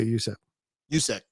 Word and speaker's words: Juszczyk: Yeah, Juszczyk.